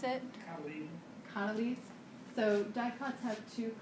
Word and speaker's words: cotyledon: How do you pronounce it? Cotyledon.